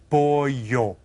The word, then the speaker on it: pollo: Pollo. This is kind of tricky. Think about it. Pollo. Okay, we've seen it a couple times, so maybe you'll remember. Did you spell it? P-O-E-Y-O. The H-Y.